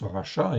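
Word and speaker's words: רשע: ici intéressant racha ok donc en hébreu ça se prononce Rach chat effectivement ok ça s'écrit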